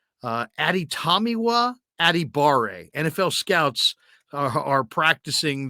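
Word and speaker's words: Adetomiwa Adebawore: defensive end from Northwestern and his name is pronounced ADI tamiwa adibare uh ADI tamiwa adibare NFL Scouts are are practicing this one because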